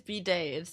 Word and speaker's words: bidet: It is bidet. That's how you pronounce it.